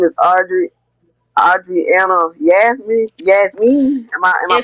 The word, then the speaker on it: Audriana Yasmeen: But, anyway, your name is Audriana Audriana Yasmine. Yasmine. Am I Am I pronouncing it right? Yes. Audriana Yasmine.